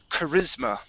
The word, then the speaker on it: charisma: All right, this word here is charisma. Okay, so this is going to be an a voiced S, riz.